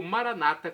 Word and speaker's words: Maranata: aramaico Eu Clamo maranat como dizemos noss católicos com a tônica na última sílaba ou Maranata com a tônica na penúltima sílaba como dizem nossos irmãos separados os evangélicos ou protestantes não importa a pronúncia o significado é o mesmo vinde Senhor Jesus vem